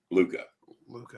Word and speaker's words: Luka: How do you pronounce it? Luka.